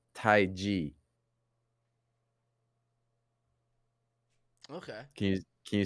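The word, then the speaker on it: Taiji: second word is not chi chi but it's actually ji PR pronounced g g like the letter G like the letter G so it's Tai G okay can you can you say Tai G Tai G yes okay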